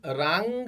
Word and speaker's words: रांग: बहुत से लोग इसे राम राहवे नमः, यूट्यूब पर भी बहुत से वीडियो आप देखोगे, बहुत से लोग इसका प्रोनाउंसिएशन राम राहवे नमः करते हैं। ये राम राहवे नहीं है, रांग राहवे नमः, RAANG, रांग राहवे नमः।